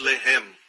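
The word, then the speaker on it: לֶחֶם: Mesma escrita, a única diferença é a pontuação. Eles colocam os pontos em diferentes lugares. Um é Lehem, o outro é Lahem.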